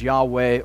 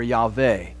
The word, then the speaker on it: Yahweh: It's the personal name of God, which we say Jehovah. It probably more correctly is pronounced in Hebrew as Yahweh or Yahweh.